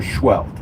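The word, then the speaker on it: Scheult: Schwelt, and that's spelled S-E-H-E-U-L-T.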